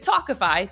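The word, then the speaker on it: Tawkify: feel your best when meeting new people with talkify that's spelled t-a-w-k-i-f-y you'll feel confident that you're meeting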